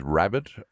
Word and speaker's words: Rabid: My name is Rabid, R-A-B-I-D, like rabbit as in rabies. It's pronounced and spelt the way you'd imagine it would be.